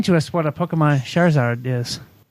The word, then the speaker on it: Charizard: so number three help me out with the pronunciation here Eric Pokemon Sharon sorry Sarge charizard charizard thank you how did I know you